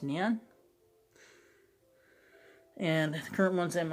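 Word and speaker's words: Nuun: They're spelled N-U-U-N, but they're pronounced neon.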